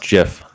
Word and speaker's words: GIF: here's a good one it's pronounced jiff that is peanut butter here's my problem with here's my problem with uh gif when people say it i think they're saying gift like a birthday gift so i think jeff's